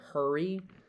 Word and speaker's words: hurry: feeling and sound in hurry. Her h. See the R is intrinsically like connected to the vowel sound in American in general American hurry.